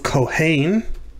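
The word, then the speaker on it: כהן: first syllable is accented that's not true of cohen it's the second syllable that's accented but it is true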